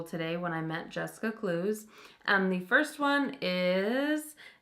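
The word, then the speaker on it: Cluess: today that eight is pronounced clues not clueless and how did I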